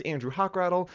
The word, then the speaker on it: Hochrattle: hello my name is andrew hochrattle it is pronounced like a hawk with a rattle you can just call